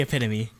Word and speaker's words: epitome: it's definitely epitome.